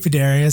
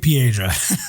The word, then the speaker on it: Piedra: JJ Paderia says, man, I got it wrong again. It's JJ Piedra.